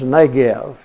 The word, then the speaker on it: Negev: And the word is Negev. N-E-G-E-V. They sometimes spell it N-E-G-E-B.